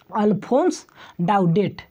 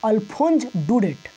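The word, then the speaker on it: Alphonse Daudet: processor बहुत सारे स्टूडेंट गलत कि क्या पढेंगे ऑल फोर्स डाट इन पर रोशन करेगा फिर तो गलत है इसका सही प्रनंसीएशन सही उच्चारण है ऑल फोंस डेट ticket elephant do इट तो राइटर का नाम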